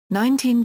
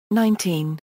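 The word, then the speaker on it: nineteen: When carefully enunciated, they differ in which syllable is stressed, 19 versus 90. However, in dates such as 1999, and when contrasting numbers in the teens and when counting, such as 17, 18, 19, the stress shifts to the first syllable, 19.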